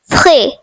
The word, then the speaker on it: frais: The next word is frais, which means fresh. The silent letter is S.